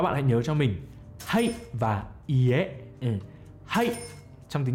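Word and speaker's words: はい: Nó là chữ ha và chữ y ghép lại nó sẽ thành là hay. Hay.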